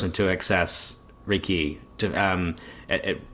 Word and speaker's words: Reiki: I say dabbling in Reiki? Um and and am I correct that the emphasis of the word raiki? It's on key.